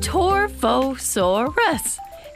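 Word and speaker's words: Torvosaurus: was weird hi I'm torva Soros and welcome to the Late Jurassic period 144 million years ago you say my name tour foe so arrest it means savage lizard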